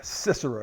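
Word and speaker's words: Sisera: of his army and I like to pronounce that name cisar cicora reminds me of a snake all right because he's a bad guy and that maybe that pronun pronunciation cicora will remind me me that he is the military leader of the bad guys all right cicora the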